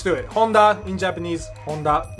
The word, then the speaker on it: Honda: right no much to it Honda in Japanese Honda it's pretty much the same thing the name